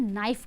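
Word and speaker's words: knife: को इंग्लिश में हम नाइफ कहते हैं ठीक है क्या कहते हैं नाइफ कहते हैं इसमें के का उच्चारण नहीं होता है के साइलेंट हो जाता है इसीलिए इसे हम नाइफ पढ़ते हैं लेकिन यह स्टार्ट होता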